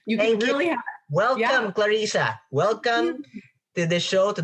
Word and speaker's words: Clarissa: Let's all welcome to the Creative Talk, Clarissa Paradis.